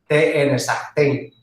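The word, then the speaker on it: Sahtein: S-A-H-E-I-T-N, Sachtein.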